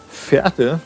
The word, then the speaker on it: Verte: Moinsen Jungs und Mädels und herzlich willkommen zurück zum Grundkurs Gaming und zu Urban Empire hier in Schulenburg, genauer genommen in Verte, wie dieser Bezirk korrekt ausgesprochen wird, wie mir gesagt wurde, und zum neuen Messezentrum hier.